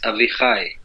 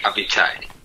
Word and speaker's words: Avichai: In Hebrew, it's Avichai. Avichai, okay. Yeah, but people can't say that, you know, so it's like Avichai. Okay, it's easier for me.